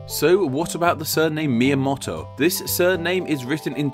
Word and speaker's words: Miyamoto: two kanji characters with the first character being the part of the name that is pronounced as Mia and the second character being pronounced as motto fans of the channel